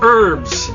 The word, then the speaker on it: herbs: continent we call it herbs the h is silent you only pronounce